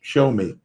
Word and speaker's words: Xiaomi: o m i it it's pronounced show me xiaomi yeah and that is